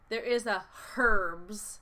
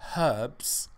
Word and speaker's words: herbs: Listeners, British people say herbs as in, you know, Italian herbs. And Americans say, Jennifer? Herbs.